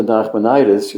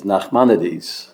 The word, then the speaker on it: Nachmanides: I thought then, I wouldn't dare argue with him, of course, but I still think now, the correct pronunciation is Nachmanides, like Maimonides, Nachmanides.